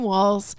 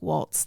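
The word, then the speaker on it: Walz: everyone still loves Tim Walls and it's pronounced walls like multiple walls not like Walts the dance sure hot tip hot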